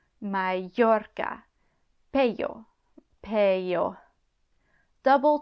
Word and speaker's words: Mallorca: Double L. This can also make the y or y sound like it does in Spanish. Again, not that common. Mallorca, Mallorca.